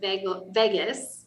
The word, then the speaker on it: vagus: And in Latin, the word vagus, it's spelled V-A-G-U-S, not like Las Vegas.